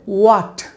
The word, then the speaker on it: what: বাট এটা সঠিক উচ্চারণটা হবে ওয়াট, সঠিক উচ্চারণ হবে ওয়াট, বাট এটা আমরা বলি এই হটের মতো, হট বলি।